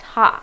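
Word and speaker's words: ห้า: lot because in thai the number five is pronounced ha so they're really just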